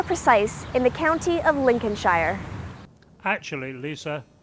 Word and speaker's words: Lincolnshire: to be more precise in the county of Lincolnshire actually Lisa it's pronounced Lincolnshire hello I'm Edmund White House and while Lisa